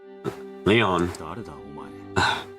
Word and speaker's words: Lion: meet you I'm Leon Leon just who are you it's written as lion but pronounced Leon sounds a big strange